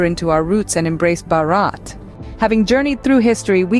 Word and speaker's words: Bharat: On the other hand, Bharat, pronounced Bharat, holds deep cultural and historical roots.